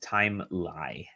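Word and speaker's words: Timelie: game for review called time lie timeline it looks like it's spelled timeline kind of is but it's it's called time lie and uh sorry i'm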